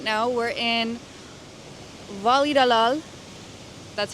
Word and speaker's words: Valladolid: So, right now, we're in Voli Dalal. That's how you pronounce it.